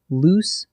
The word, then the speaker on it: loose: Next, loose versus lose, the classic spelling trap. Loose, with 2 O's, means not tightly attached. A loose board creaked under my foot. It rhymes with goose.